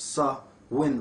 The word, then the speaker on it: Samhain: comes from the old irish for summer's end samhain pronounced sir win or soul soul soul in was the first